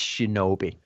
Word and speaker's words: Shinobi: So the path of the I don't know how to pronounce it. Right, okay, it's Shinobi.